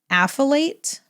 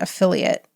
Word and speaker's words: affiliate: it down so but it is not pronounced affilate as I'm sure you know uh but it is a funny word affiliate it's a very funny